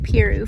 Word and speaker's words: Piru: so we're at lake peru i think i'm saying it right like piroo for the week ron